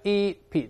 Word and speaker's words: centipede: 还有我们说这个蜈蚣叫 centipede，不是 centipede 啦，这发 e-pede，大声来一